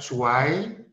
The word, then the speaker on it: zwei: Kemudian 2, zwei. Tadi ingat, EI dibaca dengan AI, zwei.